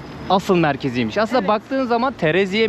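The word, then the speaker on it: Terazije: Aslında baktığın zaman Tereziye mi, teraziye mi öyle okunuyor.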